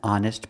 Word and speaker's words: honest: hour other examples an honest person the H is silent with honest so it's an pronounced